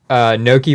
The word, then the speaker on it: gnocchi: We have gnocchi versus polenta, and we had gnocchi.